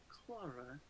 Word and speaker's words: Clara: the name clara hernandez clara they're to say it like that clark clara i like it no she'll more say it like clora that's a good one all